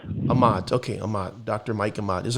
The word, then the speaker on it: Aamodt: your last name it's a mott so it rhymes with a lot ahmad okay ahmad dr michael